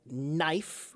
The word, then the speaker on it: knife: word knife which has a kn in the beginning of it but now we pronounce it as knife but the truth is a long time ago we did pronounce it as knife it was kifer That was the the original way to pronounce it.